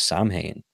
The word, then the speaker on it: Samhain: he quit misfits was Samhain well not my sound that's how I'd pronounce that's the proper way but everyone calls us I mean the sound is like the the Irish word for Halloween's the Irish Halloween Festival and so he's yeah